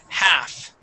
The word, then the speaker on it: half: uh first up is half okay so we do pronounce the h but the L is silent okay so the word is half half good nice job